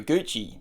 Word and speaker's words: Gucci: interns for Gucci o Gucci it spelled like gucky which can be confusing Edna had created the